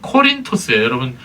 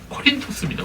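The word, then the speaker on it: Κόρινθος: 여러분, 이 고린도를 헬라어로 발음하면 코린토스예요. 여러분 주보에다가 말씀 간지를 끼워드렸는데 거기 헬라어 발음이 나오죠? 코린토스입니다. 코린토스.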